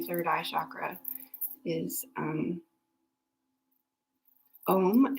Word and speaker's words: om: eye chakra is um om it's pronounced a-u-m or it's spelled aum uh but that is the the om sound so if you have